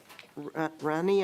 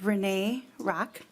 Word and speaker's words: Renee Rock: It is pronounced Renee Rock.